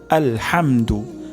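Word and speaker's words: الْحَمْدُ: শব্দটি হলো প্রথমে আলহামদু প্রথমে হা উচ্চারণ করা হা হবে না আলহামদু হবে না আলহামদু তারপর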